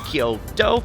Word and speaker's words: Kyoto: of like two syllables same with Kyo two syllables and O Saka has a very long o so if you want to pronounce it the Japanese way it's Toyo Kyoto and Osaka but my